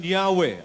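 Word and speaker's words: Yahweh: Ano ang sabi diyan while inclining to view the pronunciation yahwe as the more correct way we we have retained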